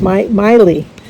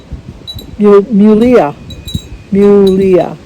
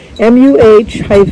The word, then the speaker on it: Myleah: Myleah, and I think last year I told her it was Miley. It's Mulia. MUH-LEE-UH.